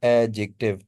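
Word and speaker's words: adjective: एडजेक्टिव phrase, ये एडजेक्टिव नहीं होता, एडजेक्टिव होता है, एडजेक्टिव। ड जो है ना इसमें साइलेंट है, एडजेक्टिव।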